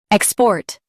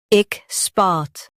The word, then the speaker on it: export: Ik spot. Export. Ik spot. Export. Stress EK in US, SPA in UK. Keep port clear.